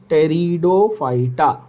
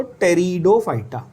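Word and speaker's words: Pteridophyta: द पी is silent. टेरिडोफाइटा। Repeat करो मेरे साथ। क्रिप्टोगैम्स के अंदर क्या क्या? Algae, ब्रायोफाइटा एंड टेरिडोफाइटा। पी नहीं बोलना है, टी बोलना है सीधा। तो टेरिडोफाइटा।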